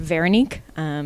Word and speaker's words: Véronique: First off, I guess I would say it's actually pronounced Véronique.